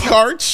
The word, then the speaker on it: Karch: Karch. That's how it's pronounced.